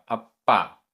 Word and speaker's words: अप्पा: अप्पा, आधा पा पूरा पा, अप्पा।